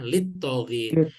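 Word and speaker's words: لِلطَّاغِينَ: Ini terdiri dari dua kata, ada li dan atogin. Li dengan atogin disatukan ya, litogin.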